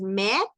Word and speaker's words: mets: Las primeras tres conjugaciones singulares suenan igual, aunque se escriben con S y la otra no, suenan igual, porque la S es una de las letras mudas en francés.